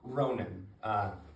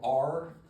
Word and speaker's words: Ronan: Ronan, it might not be simple to spell, Ronan. It sounds like it might have an E or an I in there, but Okay. it's because I pronounce it fast.